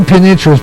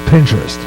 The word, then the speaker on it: Pinterest: I was mispronouncing penin I was call the penin interest but it's not how you pronounce that it's called Pinterest and um I just discovered it by listening